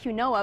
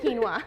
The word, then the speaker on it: quinoa: that but it actually it sounds like quoa but then it's quinoa and if you've seen